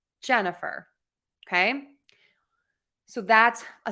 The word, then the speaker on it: Jennifer: word I'm going to stress syllable number one in my name Jennifer okay so that's a